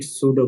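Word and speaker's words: pseudo: heading है algorithm and सूडो code इसका पी जो है वो साइलेंट है आपने इसको सूडो कोड पढ़ना है एंड एल्गोरिदम इ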